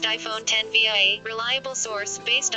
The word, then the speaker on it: iPhone X: iCulture claims the bezel-less iPhone will be called the iPhone X, pronounced iPhone 10 via a reliable source based on information announced by Apple itself in Cupertino at a meeting on Thursday.